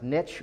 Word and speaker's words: niche: And for those of you that haven't been around me before, is it pronounced niche or niche? Which one? Niche. Why niche? Rhymes with rich.